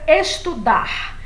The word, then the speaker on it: estudar: paroxítonas certo então vejo a palavra estudar eu não preciso acentuar porque ela é uma oxítona a sílaba tônica é o ar né no final e como termina em